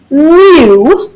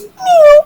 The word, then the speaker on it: mu: Up there, it's not M. It's actually the Greek letter mu. Mu. We spell it M-U. I think about it like a kitty, right? A kitty making a noise. Mew, like a little kitten.